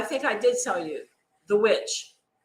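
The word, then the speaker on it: The VVitch: I did tell you the witch and it's spelled v-v-i-t-c-h the witch um also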